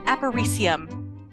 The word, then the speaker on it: Aparecium: we're going to be discussing aparium that is how you pronounce it uh by Lady